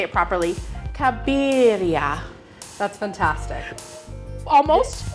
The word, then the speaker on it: Cabiria: It's after a Fellini movie from 1957 called Knights of Cabiria. Oh. But you can do the American pronunciation, which is Cabiria.